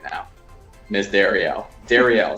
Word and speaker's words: Darriel: right now miss Dariel Dariel is how you say your name right Dariel yeah it's a pretty